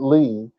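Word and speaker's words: לי: with stuff like this because Lee is not literally a word it's the LED and the yo that have been put together and so you pronounce it Lee but the lamed is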